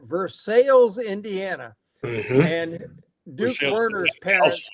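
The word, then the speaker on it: Versailles: what they call it we pronounce it Versa but they pronounce it verses Indiana and Duke W's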